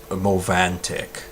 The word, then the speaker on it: Movantik: I'll start the segment off with is called Mo Vaughn tick it's spelled mov aan tik that one is too